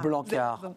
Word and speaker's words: Blanckaert: On ne prononce pas le T. Non. On est d'accord? Non, c'est un nom flamand et AERT se prononce A. Blanquart, votre parole vaut de l'or.